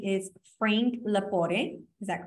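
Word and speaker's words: Lepore: a special guest um his name is Frank lapore is that correct did I pronounce it correctly you got it right perfect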